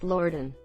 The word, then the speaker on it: leeward: Hooked on phonics doesn't work with a lot of maritime terms like leeward is pronounced lorden.